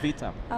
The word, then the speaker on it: Witam: You pronounce the Witam. W like a V. Okay. Yeah. Vitam.